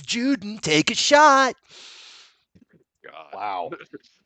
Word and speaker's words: Juden: Every time somebody says Juden, take a shot. God. Wow. So that's all I got. You know it's Juden, right? But the German word is Juden.